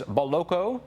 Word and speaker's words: Boloco: he joins us now have I got the pronunciation right John it is boloko you did yes we're not in we're not